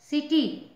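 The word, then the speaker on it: city: जाएगा स्पेलिंग का certain C आई टी वाई सीटी सी के बाद आई है इसलिए इसका सिटी कहेंगे आर आई सीई सी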